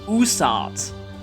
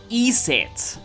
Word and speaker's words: Isis: why not use that isis is one of the most iconic egyptian gods though recent studies have found that her name was originally pronounced more like usart and later eset she gained the name